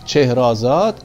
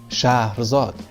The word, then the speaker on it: Scheherazade: Scheherazade qui est un nom persan qui vient de Chehrazad, et les Arabes, puisqu'ils n'ont pas le son ch dans leur langue, ils l'ont prononcé Shahrazad.